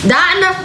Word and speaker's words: Dinah: Did I say it right, Dinah? That's it. Dinah. Okay. All right. Like Dinah Shore.